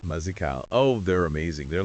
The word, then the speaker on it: Mazekal: It's pronounced Mazy Cal. Mazy Cal.